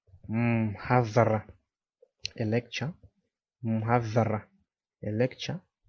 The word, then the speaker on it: mhadhara: So now let's look at how we pronounce these words. This is mhadhara, mhadhara, a lecture.